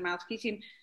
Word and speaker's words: Maot Chitim: First of all, Mount Shittim, or as we pronounce it, Mount Shittim, it's pronounced different ways. It's a Hebrew word, and it means money for wheat, actually.